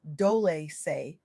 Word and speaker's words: Dolce: I'm your host, Dolce, pronounced Dole say, like sweet softness whispered in French.